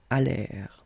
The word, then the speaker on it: allèrent: And then this ENT at the end, you know, the mark for the plural, well, clearly you don't pronounce it, so you get allèrent.